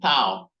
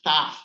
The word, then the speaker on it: tau: Some people call it tau, but a student of mine who came from Greece, he told me that we actually pronounce that in Greece as taf, not tau, like many people said, okay?